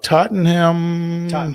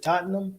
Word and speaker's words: Tottenham: stadium I can't pronounce Tottenham is it Tottenham uh Tottenham I believe something it's kind of like the you know the ham is not really ham and it's very confusing